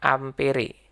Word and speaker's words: ampere: Satuannya amper, tulisannya ampere bacanya amper.